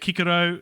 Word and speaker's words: Cicero: naturally there and and kikiro is for cicero uh caesar is kaiser